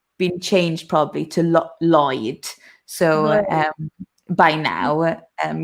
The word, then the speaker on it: Lloyd: ask a question um how do you pronounce i think it's floyd but double l o y d which is a surname oh lloyd so i mean that